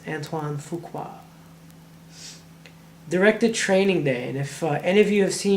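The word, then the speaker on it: Antoine Fuqua: uh but his name is really fun to pronounce antoan fuka directed training day and if any of you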